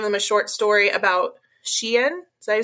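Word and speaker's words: Shein: and we gave them a short story about shien did I say it right Sheen oh yeah she and the clothing company yes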